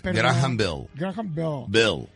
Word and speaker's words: Graham Bell: grah por eso pero pronuncia bien es graham Bell B Pon la lengua así Chueca grah Bell